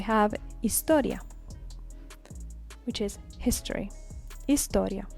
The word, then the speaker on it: historia: Historia which is history Historia remember the H is always silence silent hisor geographia geographia